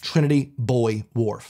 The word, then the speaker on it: Trinity Buoy Wharf: It's not a wharf for boys. What's up with this? What about the girl wharf? So I'm adding this one. You could pronounce it either way regionally.